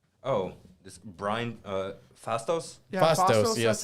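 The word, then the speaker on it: Phastos: Yeah, Fastos, yes.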